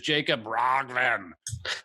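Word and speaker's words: Jacob Roggeveen: His name is Jacob Rogven.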